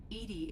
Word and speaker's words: EDI: why are you named edie edie is the phonetic pronunciation of edi that is an acronym for enhanced defense intelligence yeah i think i'm